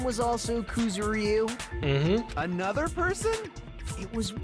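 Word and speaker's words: Kuzuryu: Okay, so it's pronounced Kuzeru.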